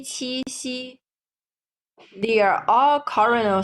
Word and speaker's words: 西: And the airflow, when we are pronouncing qi, there's a strong airflow. Xi, a little airflow, while ji, no airflow at all.